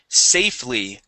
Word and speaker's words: safely: go to the word safely safely safely No Sa safely okay yes the the E is silent there safely okay safely good